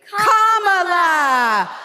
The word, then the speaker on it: Kamala: do you pronounce it first you say comma like a comma in a sentence then he say la like la la la la la put it together and it's 1 2 3 comma all right so let's